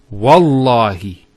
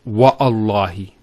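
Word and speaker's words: والله: it, and we say Wallahi. This waw here is actually known as waw al-qasm, the waw of swearing an oath. So when we put this waw, it's Wallahi, not Wa'allahi.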